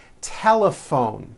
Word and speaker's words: telephone: notice the gh combination in that word laughs telephone notice the pH combination in that word is also pronounced as an F telephone it's the same